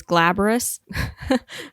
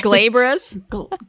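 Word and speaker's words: glabrous: versus I don't know how to say this glaborous um I'm sorry glabris elaborous yeah how do you spell it g-l-a-b-r-o-u-s outh glaborous oh thank you Google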